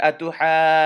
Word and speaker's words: أتحاجوني: Notice I held the noon in my nose a little bit.